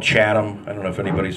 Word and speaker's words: Chatham: that I do because I don't pronounce it Chatham. I pronounce it Chatham. Like Mr. Hal from Gilligan's Island, you know.